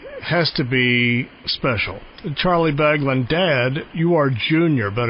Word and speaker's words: Baglan: Baglan is always, at least in Kentucky, they will mispronounce the name Bagby, Bagwell, but Baglan, you sure your name is Baglan? What kind of butchering does your name get in Mississippi? Bagwell is the biggest, but... and Bagland.